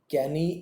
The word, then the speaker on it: canoe: कनोइंग बोलते हैं इसको, देखिए एक वर्ड आपको मिलेगा, ओके, इसको हम बोलेंगे कैनी। एक बोट होती है CANOE, उसमें ओ साइलेंट हो गया, कैनी, सो दिस विल